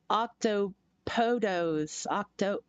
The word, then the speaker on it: octopodes: well, just remember, uh, it's Greek, so it doesn't follow Latin rules. Octopodos, yeah, nerdy's right. That's correct.